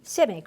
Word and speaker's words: Simic: the poet laureate of the United States Charles Simic how do you pronounce his name Simic civic right what he wrote about you and I'm